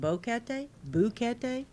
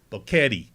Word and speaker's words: Boquete: you say is it Boca day how do you say it I don't know that's how I say but I know uh they always panamanians that are not happy when uh Gringo say boquetty yeah they always make